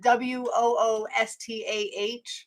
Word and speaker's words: Worcester: You pronounce it WOOSTAH, but you actually spell it WORCESTER.